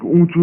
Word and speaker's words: উঁচু: ব্যথায় ছটফট করে কাঠবিড়ালি তরতর করে একটা অনেক উঁচু গাছে উঠে পড়লো। দেখো হস্ত চন্দ্রবিন্দু আছে, নাকে নাকে উচ্চারণ হবে, ঠিক আছে?